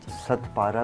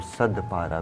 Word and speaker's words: Sadpara: उनको सदपारा भी कह सकते हैं, ते से, और सदपारा भी, दाल से भी उनको प्रोनाउंस करते हैं।